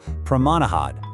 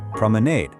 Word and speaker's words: promenade: In the UK, you'll generally hear it ending with an aw sound, so pro-ma-na-hod. But over in the US, it typically gets an A sound at the end, pro-me-nade. Both are perfectly correct, so take your pick.